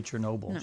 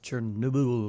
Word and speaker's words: Chernobyl: You know, e even the officials mispronounce Chernobyl. Uh she said uh uh she didn't say Chernobyl. She said Chernoo or something like that.